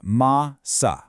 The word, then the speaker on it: massa: Take the word massa. It's pronounced ma-sa, with a nice heavy stress right on that first syllable.